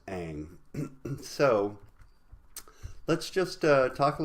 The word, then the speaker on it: Ingres: a genre ghost dominique egg it looks like Ingres but it's pronounced hang so let's just talk a little bit about